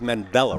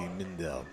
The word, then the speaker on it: Mindell: So we got Mandela, right? Did I pronounce that right? That would be Mindell.